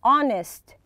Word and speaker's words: honest: funny generous hard-working honest here we don't pronounce the h we say honest kind lazy optimistic optimistic